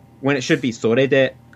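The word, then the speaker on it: それで: video is I say sore de when it should be sore de. I go down instead of up. But then later in that same video, I say sore de with the correct pronunciation later on.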